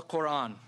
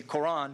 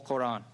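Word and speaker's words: Qur'an: the word not simply Quran but quote on there's a little stop in it thought on so Islam's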